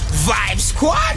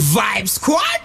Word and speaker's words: Vibe Squad: what's up now what you guys origin from Vib Squad Vib Squad it is the am i y am I announcing you how do you announce B Squad say that again you pronounce it Vibes sad oh man obviously I was saying wrong I